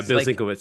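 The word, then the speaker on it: Bill Sienkiewicz: still have that um D how do you pronounce his name the artist Bill swick uh you know yeah Bill Switz yeah okay yeah Bill Switz yeah he used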